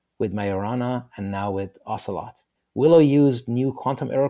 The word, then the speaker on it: Ocelot: This is what we saw with Willow with Myurana and now with Ocelot. Willow used new quantum error correcting code QEC and Microsoft is pursuing topological cubits. Ocelot rhymes with Camelot and Lancelot, but it is a midsized species of cat.